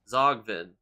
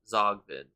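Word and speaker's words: Tzogvin: If you're the developers watching this and you wanted me to pronounce that word like Zogvin, why even put a T at the front?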